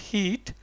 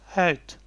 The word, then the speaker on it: heet: It's not heat because E is pronounced as A. So it's heet. Ik heet ifectioner.